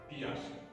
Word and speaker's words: Piaget: Piaget. It is pronounced as Piaget.